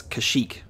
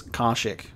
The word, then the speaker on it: Kashyyyk: 2003 um and yeah obviously we know that it's kashyyyk but old republic is going to refer to it as karshek you know maybe they maybe they updated the pronunciation in the universe you